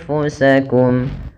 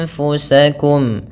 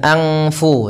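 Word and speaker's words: أَنفُسَكُمْ: Anfu bukan angfu tapi dia anfu langsung kepada makhraj daripada huruf fa yaitu di bibir kita.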